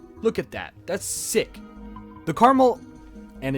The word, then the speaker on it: Carmel: And it is caramel, not caramel, not caramel, because there is only one A. Okay. Is look at how that's spelled. C A R M E L. Caramel. Or I hear some people say caramel, which sounds cooler than caramel.